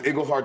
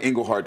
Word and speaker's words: Iglehart: I was Iglehart and Iglehart for 20 years. And yeah. All of a sudden, one of the was like, Iglehart. Oh, that's how you said it.